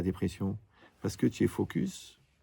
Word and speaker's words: focus: parce que tu es focus, il faut bien prononcer le S, sur le côté lourd.